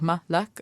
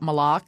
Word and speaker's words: Malak: My name is Malak, and it's just like Malak, not Malak.